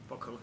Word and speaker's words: POCL: Is that how you pronounce it, right? POCL.